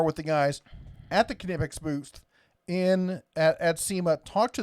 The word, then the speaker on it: Knipex: It's almost like a quiet K. It's not a silent K. It's a quiet K. Knipex.